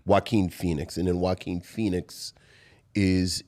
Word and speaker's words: Joaquin Phoenix: Russell Crowe is in Gladiator with Jaquan Phoenix. I never forget it. I always forget how to pronounce it. Joaquin Phoenix.